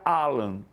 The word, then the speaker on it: Alan: do clube é que o nome dele não tem acento, mas se pronuncia Alan. Por isso que eu estou falando Alan.